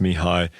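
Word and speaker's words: Mihály: a link to this m i h a l y I think that's pronounced Mii and then just then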